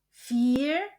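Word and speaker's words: vier: Fear Fth Zex. Kombinasi huruf I e dibaca I panjang dan huruf U um laut dibaca U. Jadi fear fth sex sib akh noin.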